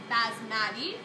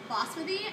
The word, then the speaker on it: basmati: Well, some of you might pronounce it basmati. Basmati and basmati are one and the same.